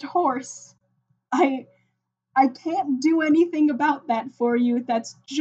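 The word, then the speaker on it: Juorse: It is pronounced horse.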